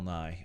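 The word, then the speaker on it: Nighy: it was like Bill Nye uh like kind of almost yeah Bill Nye like like the Science Guy yeah yeah yeah yeah Bill NY that's how they pronounce it so never mind my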